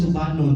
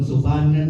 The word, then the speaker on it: Subanon: Di na siya Subanon, Subanan ang pronounce kay Iman.